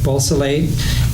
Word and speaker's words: Beausoleil: committed with crime partners Biolcia, how do you pronounce that one? Beausoleil, Ann Atkins, and Grogan and Davis.